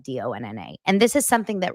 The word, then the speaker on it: Dana: You know how my name is spelled DANA, but pronounced like DONNA.